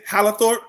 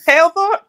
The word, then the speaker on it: Halethorpe: Gotta add an extra syllable in there somewhere. Oh yeah, I told him what I say, Hallerthorpe. I've been saying Hallerthorpe for like 20 years. Halethorpe?